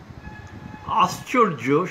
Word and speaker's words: আশ্চর্য: রবীন্দ্রনাথ থেকে উদ্ধৃতিতে খেয়াল করেছেন নিশ্চয়ই, আশ্চর্য শব্দে যুক্তাক্ষরে তালব্য স শব্দের মধ্য হলেও তার উচ্চারণ হয়েছে দন্ত্যস্বরের মতো, তবে এটি সাধারণ নিয়ম নয়।